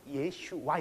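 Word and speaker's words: ישוע: 것 자체를 잘못됐다고 할게요 예 슈와 이렇게 해도 힙 우리말로는 예 슈와 이렇게 발음이 되요 예수님이 영어로는 원래는 영어로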